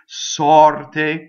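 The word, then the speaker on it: sorte: As opposed to sɔrte, the stress is on the O and it's open, right?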